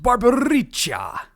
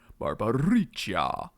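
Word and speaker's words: Barbariccia: The Lord of Wind, Barbaricha. What? No, you have to say it like that, Cecil. Barbaricha.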